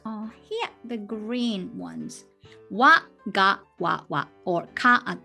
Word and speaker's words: は: Ha, it's written, but the pronunciation, when it works as a particle, it's called wa.